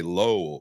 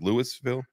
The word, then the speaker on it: Louisville: And then some people say low, like there's a W in there, but it's like Louisville.